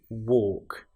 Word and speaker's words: walk: Now you'll notice that in both of these words, walking and talking, we have the L, which isn't produced. It's not, we don't hear the L woke. It's walk and talk.